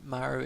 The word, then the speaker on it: Maru: I'm used to speaking Japanese, and I know Maru is Korean, so it's pronounced differently.